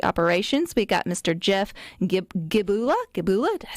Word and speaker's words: Gibula: Jeff Gibula.